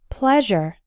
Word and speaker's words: pleasure: and keep pleased pleased but the words pleasant and pleasure have the a sound as in the words get best and read pleasant pleasure something similar happens with